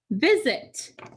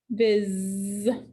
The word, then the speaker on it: visit: Viz. That S is at the end of the syllable, so it will get a line through it because it's making the Z sound.